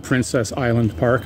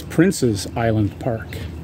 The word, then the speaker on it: Prince's Island Park: I think many of us pronounce it Princess Island Park. I have for over 40 years. Until someone corrected me, it's Prince's Island Park.